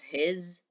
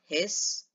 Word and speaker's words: His: bundle of his and you don't pronounce it as his you pronounce it as hiss which like a snake's sound hiss and bundle of